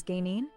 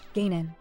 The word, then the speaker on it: Gan: Gaffertainment says, "Lol Pixie, why do you say Gan is gaine?" Honestly, Gaffertainment, you'd think after all these years I'd get the pronunciation right, but even I have my little misfires. Gan, not Gaine.